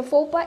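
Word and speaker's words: faux pas: So, আমাদের প্রথম যে ওয়ার্ডটা ছিল সেটা ছিল FOPA is okay. FOPA meaning হচ্ছে it's an embarrassing situation. It's a French word. So FOPA is FOPA means an embarrassing situation.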